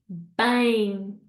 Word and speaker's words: bem: So the first one for meaning well is bem, bem. Okay, we don't want to hear tudo bem with a m sound. No, we've learned this. We need a nasal sound, bem.